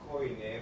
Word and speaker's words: koine: I think it's koine, but Koine, yeah. in modern Greek it would be kini or something like that. Kini, yeah. I just look up in the pronunciation. So let's just call it koine. I think that's an American pronunciation. That's a Greek word for common.